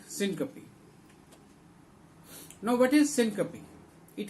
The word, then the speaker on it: syncope: Usually, the students pronounce it as syncope, but it is syncope.